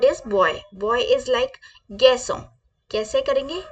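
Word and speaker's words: garçon: our next word is बॉय बॉय is like गैसो कैसे करेंगे गैसो कैसे गैसो गैसो girl our next word is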